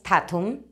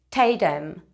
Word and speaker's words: Tatum: pues decir chanin tatum pero no es tatum es chanin teem chanin t sabías pronunciar